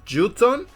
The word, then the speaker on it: Jotun: Algún día tal vez hablemos de la saga de Transformers en este canal, aunque su otro nombre es Jotun, que curiosamente se pronuncia como Juton, pero bueno, le seguiré llamando Megatron, perdón, Megatrol.